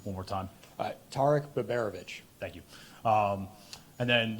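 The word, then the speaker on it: Tarik Biberović: Zach first he asked me if you could pronounce his name one more time Tariq beberovich thank you um and then looking ahead to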